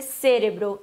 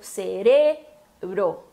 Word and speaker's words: cerebro: Mas, enfim, se fala cerebro, como não tem acento lá no E inicial, não pode ser cérebro. Também é uma heterotônica, que nem a palavra magia, que eu falei antes, que muda a sílaba tônica em relação ao português. Então, no português a gente tem a sílaba tônica no C e no espanhol no re, tá? Então, cerebro. O B mais fraquinho, né?